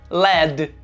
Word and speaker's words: led: E em contrapartida, chumbo, lead, tem a mesma pronúncia, apesar de escritas diferentes, que o passado do verbo liderar. O passado de lead é led.